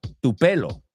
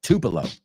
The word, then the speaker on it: Tupelo: He's from Tupelo, que no se pronuncia así, se pronuncia Tupelo.